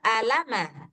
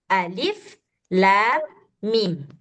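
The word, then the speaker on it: الم: Nah, kita kan enggak baca alama atau ilima atau ulima atau apalah sebagainya, tapi kita baca alif lam mim.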